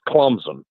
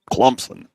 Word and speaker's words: Clemson: day Davos Sweeny's team you pronounced that as kumson Clemson c u m PS o n that's how they say it D Clemson Clemson uh anyway um